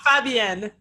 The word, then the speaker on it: Fabienne: So we should ask her now for the correct pronunciation. So funny. So yeah, Fabienne.